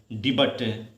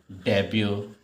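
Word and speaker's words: debut: Next है, अब फिर आप इसका प्रोनाउंसिएशन करोगे तो क्या बोलोगे, डिबट, लेकिन बेटा इसको बोला क्या जाता है, डेब्यू, डेब्यू, इस तरीके का।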